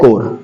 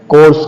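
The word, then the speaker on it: Corps: करते हैं national cadet कोर्स कह देते हैं या को कह देते हैं तो ओनली हमारे क्या बोलना है नेशनल कडिट कोर ओके लिखा जाता है सी ओ आर पी एस कोप्स नहीं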